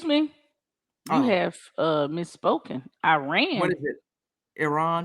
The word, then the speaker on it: Iran: I have uh misspoken Iran Iran didn't you learn from Tyler Adams that's how you pronounce that no ma'am we got to get that right I run Iran Iran